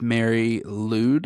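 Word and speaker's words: Mari Lwyd: hard to pronounce things I'm pretty sure it's Mary lwd it's l Wy D and it's from Wales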